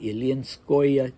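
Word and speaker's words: Ilyinskoye: that OE, you should insert a Y between the O and the E to give it the proper phonetic spelling. So you see that O and E, and you know it's going to be pronounced Oya, Neskuchnoya, Ilinskoya, Tsarskoya.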